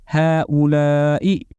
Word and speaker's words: هؤلاء: objects, which is هؤلاء, written the way you see it and pronounced as هؤلاء, and it means these.